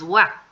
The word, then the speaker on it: は: le ponemos la partícula de sujeto que es Wa ya tengo mi segunda parte de la oración